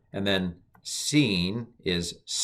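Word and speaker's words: שׂ: the left sheen and scene now um with it with the dot on the right it's sh it's a sh sound and with the dot on the left it's a s so sh sh sh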